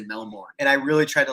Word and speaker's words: Melbourne: Hey, Dante, we just kicked it with a guy who's from Melbourne.